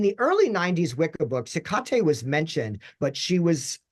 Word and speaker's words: Hecate: So for the very first time, my literature teacher says Hecate, which is closest to the actual Greek pronunciation, which is Ekate.